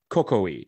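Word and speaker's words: Coecoei: But they have a unique liqueur, and it's called Cocoi. It's spelled C-O-E-C-O-E-I.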